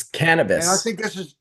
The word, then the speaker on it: cannabis: he calls it the endoc canibano it's not cannibis it's cannabis and so I think the endocannabinoid was is a more proper pronunciation of this word hanabono and and I